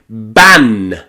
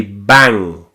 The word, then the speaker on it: bank: You also see this when the letter N comes before the letter K like in bank. We don't say bank ban. No, no, no. We say bank with that at the back.